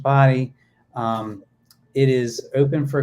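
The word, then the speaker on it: Bodie: the old keeper quarters yes there's the the body Island the lighthouse so it's it's spelled bod and it's pronounced body um it is open for climbing it opened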